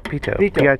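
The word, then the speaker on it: pitot: yep looks clear uh pilot tube P French p o t you don't pronounce the last T oh I'm sorry you're right PTO air speed indicator make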